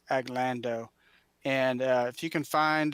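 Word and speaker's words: Aglandau: is called a glenn aglando spelled a little funny it's a g l a n d u a but it's pronounced aglando and if you can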